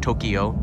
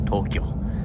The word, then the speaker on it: Tokyo: Two syllables, not Tokyo, two syllables, Tokyo.